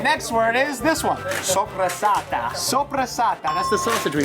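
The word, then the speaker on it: soppressata: Sopressata. Sopressata. That's the sausage we make, right? Yes. Sopressata. It's not supersat. It's not supersat, it's sopressata.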